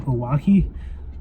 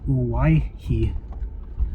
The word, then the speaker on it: Owyhee: the pronunciation of Hawaii I think I've been pronouncing it wrong in this video so my apologies for that I think I was saying kawaki but I just looked it up and it's why he so I'm gonna try